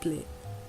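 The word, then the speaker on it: plat: dish in French is pla you'll notice that I didn't pronounce the T at the end of the word if a word ends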